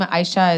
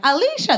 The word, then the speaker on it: Aisha: was born there um my name aisha is very very popular in nigeria um that pronunciation not so popular here everyone's like or they're like alicia they just add letters that aren't there one time i came